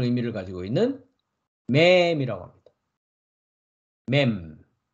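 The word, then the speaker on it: מם: 라메 라메 라메드 어 쌍 리얼입니다 영어로는 L 발음을 가지고 있습니다 그다음 글자는 물이라는 의미를 가지고 있는 맵이라고 합니다 맴 맴 음 미음이 그요 그다음 글자는 물고기 시라는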